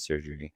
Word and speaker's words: chirurgy: Is it chirurgy or is it surgery? How do you pronounce it?